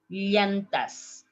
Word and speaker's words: llanta: Llanta. Llanta. The plural, llantas. So listen to me. I'm going to pronounce in the 3 different ways. Llanta, llanta, llanta.